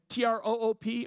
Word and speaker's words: troop: And T-R-O-O-P or T-R-O-U-P-E. And so I looked it up, and it said troop and troop both rhyme with group.